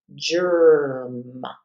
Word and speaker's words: germ: In combination with the G, the E is going to change that to a soft G. So this is going to be germ. So only the R sound is what we hear in place of the ER.